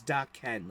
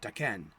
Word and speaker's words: Daken: she said, no, it's Daken, like D-A, small, lowercase D-A, dash, capital K-E-N, Daken.